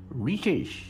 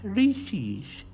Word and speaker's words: Reese's: this is america and it is pronounced riches riches not racist this deliverance type of